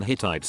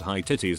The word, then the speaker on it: Hittites: did a presentation in hittites and she went through while presentation straight-faced calling it high titties everyone was losing it